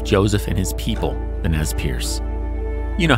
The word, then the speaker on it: Nez Perce: Nez Perce is a mispronunciation of the French term for them, Nez Perce, meaning pierced nose.